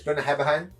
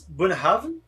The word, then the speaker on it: Bunnahabhain: So it's Bunnahabhain. It's Bunnahabhain.